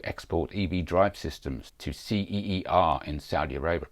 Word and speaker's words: Ceer: EV Drive systems to ceer in Saudi Arabia probably pronounced C the South Korean company